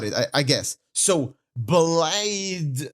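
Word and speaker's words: Blaidd: I I got it I I guess so blide not BL not BL BL oh for God's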